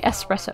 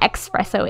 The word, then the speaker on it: espresso: or espresso i say espresso because i watched this video one time that was like actually it's not expresso it's espresso um these are things